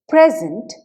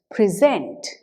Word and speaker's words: present: in English for example let us take the word present when the first syllable of this word is stressed present it is a noun however if the second syllable of this word is is stressed it becomes a verb present listeners need to